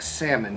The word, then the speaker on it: salmon: salmon on salmon flat salmon the l is silent flat bread which i